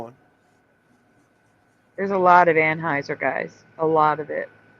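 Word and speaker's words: Anheuser: has to be because that's the way everybody pronounces it still to now it's always anheiser Bush that's not true that's what I'm saying during that Dylan moldy thing I was hearing people pronounce it ANH Houser oh okay they're pronouncing it ANH Hower Bush yeah and I was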